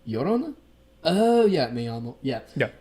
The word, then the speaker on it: Llorona: Double L is like a Y sound. Llorona?